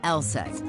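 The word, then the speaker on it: LSEG: be a bit misleading take ours for instance pronounced lset AKA London Stock Exchange group sure we're in London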